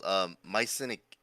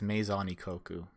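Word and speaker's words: Maison Ikkoku: It's called Mycenic. I always mess up the pronunciation. Mycenic Coco. I think it's Maison Ikoku. I think it's like she mixes French and Japanese.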